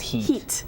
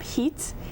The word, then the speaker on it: Hit: you pronounce it camp hit it's actually pronounced heat yes probably appropriate for how hot it was camp heat and of course there